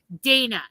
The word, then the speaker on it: Dana: going to go by, English spelling, the A is long, therefore there's one N. Where there are those who pronounce it Dana and they have two N's, two consonants, make it a soft A.